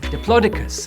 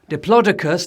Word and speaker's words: Diplodocus: Brachiosaurus, Diplodocus, Stegosaurus. A bit of an ancient history question for you. Archaeological armories at the ready. Diplodocus, Diplodocus, Diplodocus, Diplodocus. Apparently there's 4 acceptable pronunciations, but they're all wrong